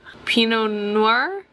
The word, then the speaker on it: Pinot Noir: Pinot Noir, is that how you say it?